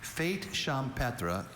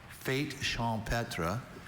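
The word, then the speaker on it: fête champêtre: Fate champra is a singular noun. It can also be pronounced fate champra.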